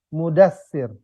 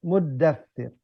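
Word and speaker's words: المدثر: Dia bacanya ya ayyuhal mudassir ya. Karena memang enaknya gitu ya, karena kalau muzammil ya ayyuhal muzammil ya. Ya ayyuhal muddatsir.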